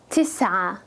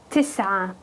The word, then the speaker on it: تسعة: And it's pronounced as tis'a, tis'a.